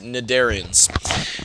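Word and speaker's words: cnidarians: of these is the nidarians remember i said that this c is actually silent and you just pronounce it nadarians now an example of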